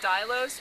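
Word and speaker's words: Dylos: our website but it's called the dailos which is spelled d-y-l-o-s it basically it's it's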